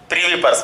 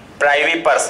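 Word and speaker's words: privy purse: Pension मिलती थी ना, प्रीवी पर्स बोलते थे उसको। ठीक है, प्राइवी, हालांकि कहीं कहीं इसका जो प्रोनाउंसिएशन है वो प्राइवी पर्स है, PRIVYPURSE, है ना।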